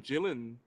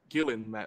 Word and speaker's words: Gillan: the part I'm sure K Karen gyllen would have taken it or Gillan rather hard G sound you know Amy Pon